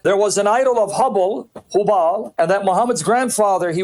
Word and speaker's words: Hubal: And that there was an idol of Hubal, and that Muhammad's grandfather, he would go to that idol, that statue of Hubal or Hubal, some pronounce it Hubble, and as he's praying